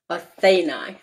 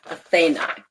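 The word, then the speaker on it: Αθήναι: And in Greek, it's pronounced Athenai, Athenai.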